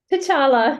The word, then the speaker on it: T'Challa: cat CH how do you say that one t'challa yeah he's always talking point it's Black Panther's